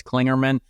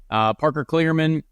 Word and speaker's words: Kligerman: pronounced it I guess clingerman there is no n before the G so uh just everyone know that Parker clingerman clingerman is uh a